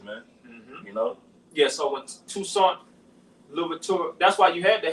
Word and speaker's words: Toussaint Louverture: Yeah, Toussaint Louverture.